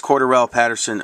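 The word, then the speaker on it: Cordarrelle Patterson: rc uh cordurl patterson i know how to say his name now because i uh my last video i didn't know how to say his name uh it's corduroy patterson of the vikings and i think this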